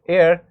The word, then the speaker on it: heir: Even here in the example of heir, we know that h is silent, it's giving the sound of a vowel, so that's why we used an before it.